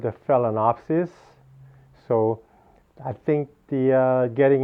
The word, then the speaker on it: Phalaenopsis: name of the orchid it's called the fella fella napsis okay so fail for